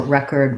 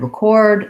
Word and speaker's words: record: to project my voice the verb or record record there's a lot of examples where we do change the syllable stress and its first syllable stress for the noun so you can kind